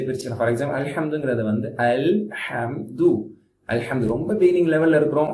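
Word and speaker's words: الحمد: இருக்கணும் ஹம் அந்த ஹம் உடைய டிராவலிங் கரெக்டா இருக்கணும் அல்ஹம்துது அப்படி சொன்னா தப்பு இல்ல அலம்து அப்படி சொன்னா தப்பு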